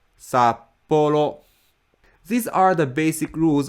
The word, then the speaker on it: Sapporo: is flat Tokyo Tokyo Sapporo is flat sap Polo sap Polo these are the basic